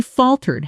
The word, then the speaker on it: falter: Notice the stress. Falter, stress on the first syllable with the second syllable softened almost to. Tar, in fast natural speech.